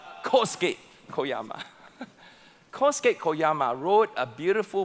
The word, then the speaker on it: Kosuke Koyama: to say it right, I would say Kosuke Koyama, and then Naomi, our wonderful Japanese staff, say, "Pastor, that's wrong, it's Kosuke Koyama."